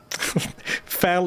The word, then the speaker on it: Fal: Fal is pronounced fal. Tal is pronounced tal.